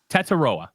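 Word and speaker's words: Tetairoa: want to prce this Teta okay so the eye is silent apparently which is the one thing that was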